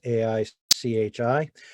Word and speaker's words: Aichi: are known as or at least i pronounce them aichi targets it's aichi there are 20 targets